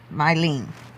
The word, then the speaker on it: Mylene: I pronounced Mylene's name wrong. Gotcha. Mylene.